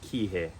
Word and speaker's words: Kihei: rentals nice beaches are all located and it's pronounced Kihei a little further south is the town of